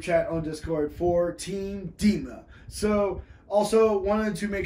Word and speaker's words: DMA: Discord group chat called Team DMA, pronounced Team DEMA, stands for Team Dark Magic Attack.